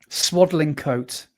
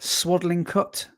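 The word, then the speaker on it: Swadlincote: Swaddling coat. Is that how you say it? Swaddling cut. Cut coat. No, it's swaddling coat.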